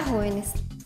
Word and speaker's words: jóvenes: La palabra jóvenes tiene su acento en antepenúltima sílaba, por lo tanto, pertenece al grupo de las esdrújulas y todas se tildan.